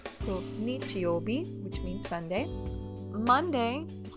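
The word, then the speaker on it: 日曜日: In the word Sunday, the first character is actually pronounced nichi in this instance, so nichiobi, which means Sunday.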